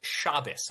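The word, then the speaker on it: Shabbos: Also, it's it's pronounced shabus. I encourage you to also keep it. President Trump just issued a proclamation encouraing Americans to keep Shabbat.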